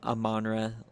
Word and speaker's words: Amon-Ra: We have a new recruit whose name Amon-Ra. It's Amon-Ra Leuha. It's not like, stop saying it like one word. It's Amon-Ra.